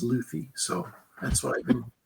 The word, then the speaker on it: Luthi: on okay well uh my name is luy or it's pronounced if you go back to the old country U but in America most people I you know know best I can get is Luffy so that's what I've